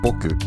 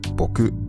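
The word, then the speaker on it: 僕: It is generally pronounced boku, but some people now pronounce it boku.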